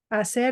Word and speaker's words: hacer: Do not pronounce this H. Hacer la tarea.